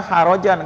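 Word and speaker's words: حرجا: anfusihim, dalam diri-diri mereka, harajan, keberatan. Harajan ya. Ha. Kalau kita bacanya kurang bersih, harajan, ngorok, jadinya ya kho, itu namanya keluar. Nah, ini ha bersih.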